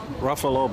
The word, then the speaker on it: Ruffalo: Ruffalo, yeah. Ruffalo, Buffalo.